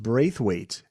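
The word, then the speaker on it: Braithwaite: early years there was Junior I think it's pronounced braith weight is I think that's right and Cherry green and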